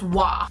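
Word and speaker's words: は: h it is written as ha it's actually pronounced W the hiragana W used at the end of a sentence is actually something completely different will be discussed in a different video this wa is used to indicate the subject of a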